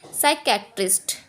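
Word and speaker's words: psychiatrist: अब एस से पहले पी हमारा है, हमारा साइलेंट, इसको पढ़ेंगे साइकेट्रिस्ट। अब हमारा एस से पहले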